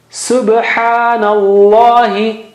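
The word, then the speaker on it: سُبْحَانَ اللَّهِ: Subhanallahi. Nallahi. Na has fatha there. Subhanallahi. Ba has qalqala. Okay. Subhanallahi. That's how the tasbih, the right way of saying that tasbih is.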